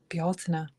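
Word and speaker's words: Beltane: But if you say the real pronunciation of Beltain, which is more like Balta, nobody knows what the heck you're talking about.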